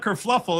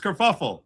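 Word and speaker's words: kerfuffle: And it's not kurfluffle. It's kurfuffle.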